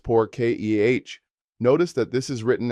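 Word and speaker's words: por qué: Why is poor K pronounced poor ke?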